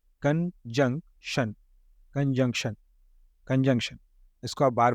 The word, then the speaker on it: conjunction: अब कंजंक्शन को कैसे पढ़ेंगे आप? CON, कन, JUNC, जंग, TION, शन, कंजंक्शन, कंजंक्शन। हिंदी में देख लीजिए, आपको इजी हो जाएगा समझने में।